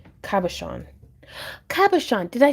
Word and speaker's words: cabochon: Chon is pronounced Sean. Cabochon.